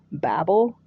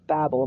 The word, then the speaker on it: Babel: The Tower of Babel. I think I heard it pronounced Babel my entire life until I joined the church, and now all of a sudden it's Babel.